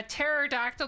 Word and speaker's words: pterodactyl: can't you hear a pterodactyl go to the bathroom because the p is silent foreign popsicle thank you